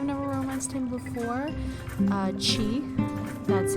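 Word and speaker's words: Qi: through I have never romanced him before uh chi that's how you pronounce his name I always thought it was key the first time I met him but then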